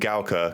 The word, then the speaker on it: Gaoke: also out of china i'm going to be saying kyo and gauka because that's how you actually pronounce them snark is going to